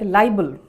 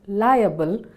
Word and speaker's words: liable: When saying the word liable, many people forget to pronounce the A. Therefore, it ends up sounding like libel. Liable, which is pronounced liable, means legally responsible.